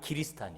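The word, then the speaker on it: キリシタン: 탄 금지령이 내리지 입니다 이 길이 스타 아니라는 말은 크리스 아니라는 1번씩 발음이 길이 스탄 이에요 그 당시에 네덜란드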